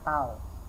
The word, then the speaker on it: tau: Ini dibacanya bukan T tapi dibacanya tau ya.